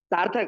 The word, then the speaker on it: Sarthak: Sarthak, I'm Sarthak. Sarthak, that's how you pronounce it.